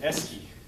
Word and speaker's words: esky: Joe Pesci rhymes with esky.